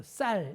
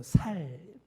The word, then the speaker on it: 쌀: 틀리더라구요 또 영남 출신 분들은 쌍 시 오 발음을 잘 못합니다 그래서 쌀 이걸 못하고 살 때나 이럽니다 또 반면에 우리 호남출신 분들은 예